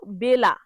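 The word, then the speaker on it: bello: ওই যে ওরকম বেলাকে যেমন বেল্লা বলে ঠিক সেরকম বেলোকে বেল বলে। তাহলে বেল ভুল উচ্চারণ হবে।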